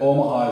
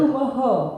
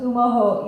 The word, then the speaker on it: Omaha: Umaho. Umaho? Umaho. And the Okay. film is pronounced Umaho EA, and Umaho is the original word for Omaha.